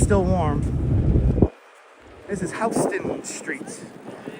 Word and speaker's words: Houston: And that's how you pronounce their name, Houston, not Houston.